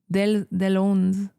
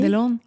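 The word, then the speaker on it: Deslaunes: Mais son nom de famille, je serais pas capable de le prononcer correctement, donc je m'excuse d'avance, mais c'est Delone. Et? Delone.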